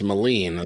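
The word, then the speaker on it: Melin: that'd be cool yeah his name is spelled like m-e-l-i-n so it's Moline that's pronounced but so he went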